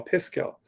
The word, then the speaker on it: Piskel: s k e l pisco instead of pixel like they just reversed it um and aiden made